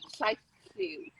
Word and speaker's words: Llaethliw: It's Llaethliw.